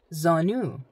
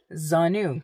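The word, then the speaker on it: زانو: next one knees how do you say knees zonu zonu you're probably relieved that there's no in there huh okay Z zonu quite easy that is KN your knees KN zonu of course once again singular zonu all right next word next word is p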